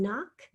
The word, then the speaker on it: knock: with 3ds in it we have a silent kn on knock and the digraph ck